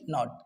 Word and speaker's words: knot: तो के का एक बहुत ही सिंपल लॉजिक है फ्रेंड्स कि किसी भी वर्ड के स्टार्टिंग में, बिगिनिंग में यदि आपको के एन का कॉम्बिनेशन मिल जाए, किसका कॉम्बिनेशन? के और एन का, तो हमें सिंपली किसको साइलेंट कर देना है? के को।